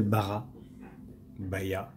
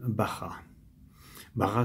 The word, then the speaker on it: Baja: excusez-moi le Volkswagen Beatle Bara ba vous écrit B a J a et ça se prononce à l'espagnol Bara bar c'est le nom de